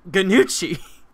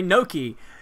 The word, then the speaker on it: gnocchi: want to try it but i called it ganuchi because i didn't know how to say no key and uh so yeah that's that's kind of